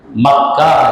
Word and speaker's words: مکہ: بکہ کہا گیا، کیونکہ مکہ بعض لوگ اس کا تلفظ بکہ کرتے ہیں، کیوں؟ میم اور با دونوں کا مخرج ایک ہے، ماں نکالنا تھا دونوں ہونٹ ملے گا، با نکالیں گے تو دونوں ہونٹ ملے گا، التقاء شفتین، دونوں ہونٹ ملتے ہیں